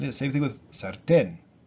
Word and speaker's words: sartén: Same thing with sartén. Sartén normally would be sartén, right? Because it ends in an N. But we put the accent on the E, on the last syllable, right?